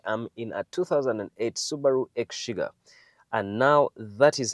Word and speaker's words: Exiga: in a 2008 Subaru X sugar and now that is how it's pronounced egg sugar uh in our common language we usually say exiga but its actual name if you go to Japan it's called the Subaru